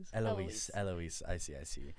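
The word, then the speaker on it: Héloïse: So, in French, they don't pronounce the H. Sounding like a fool. My bad. I didn't want to interrupt. I was like, "Oh, it's Eloise."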